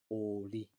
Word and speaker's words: oli: Again, I added that extra O just to let you know it's elongated. Otherwise, you might have been confused and pronounced it as oli, as a name, but oli, oli.